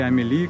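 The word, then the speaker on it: Amélie: Я думаю, вы знаете, здесь, кроме того, вот смотрите, Амели, потому что именно на Манмармарте снимали фильм Амели, если вы видели, или Амили, как правильно произносится.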